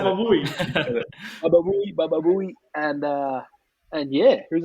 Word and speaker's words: Baba Booey: It's BABABOOEY. That's how you spell Baba Booey. All right, it's not Baba Pooey or Baba Pooey.